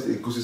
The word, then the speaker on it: egusi: We call it egusi soup. Can you pronounce it?